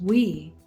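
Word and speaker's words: oui: The W + 8, it equals we and that's pronounced in French. We that means yes, the Y plus S.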